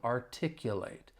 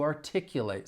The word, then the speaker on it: articulate: With the verb, the stress is on the second syllable, but the final syllable has that long A sound, articulate. to articulate something.